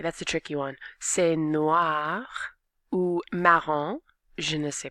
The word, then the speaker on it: noir: Noir. Get that wah wah wah. Noir.